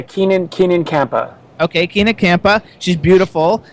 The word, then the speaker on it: Keenan Kampa: First of all, her name is Keena Kampa. Is that how you pronounce it? Yeah, Keenan Kampa.